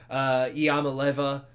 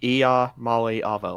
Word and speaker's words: Iamaleava: Of course, Nico Iamaleava, I think is how you pronounce that. I'm pretty sure it's pronounced Iamaleava, like Iamaleava.